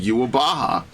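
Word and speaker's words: Uroboros: That's they pronounce it yuabaha.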